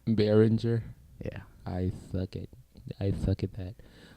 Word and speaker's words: Behringer: I think that's pronounced Behringer. Behringer.